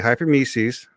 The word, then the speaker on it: hyperemesis: Okay, hyperemesis, say it like meses, is not because of concentrates.